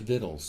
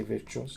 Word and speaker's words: victuals: just means their foodstuffs to pronounce the vittles vittles I always say victuals I know and everybody prances it victuals that's because it smell that way I know but it's vittles and they went their